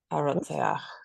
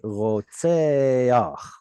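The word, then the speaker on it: רֹצֵחַ: Why did you flip the chet and the patach? Why is it supposed to be flipped? Most of the time we read the consonant, then the vowel. But here you read correctly, rotseach, like the vowel came first.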